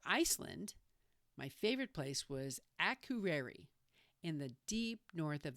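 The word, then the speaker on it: Akureyri: I'll do a podcast about this town soon, but for now, just say Akureri. Accent on the first syllable.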